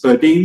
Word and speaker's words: Burdeens: Roman sha and now you're with birds birin birin is that how you pronounce it correct in Chicago and we were